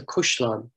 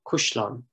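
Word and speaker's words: caisleán: another field name from this area uh the kashlan is pronounced the kushlan locally the question and we have i think three examples in field names of the word kashlon mean castle being pronounced cushlon now this is a feature of many dialects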